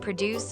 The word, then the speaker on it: produce: When it's a verb like to produce a video or a sound, the stress is at the end.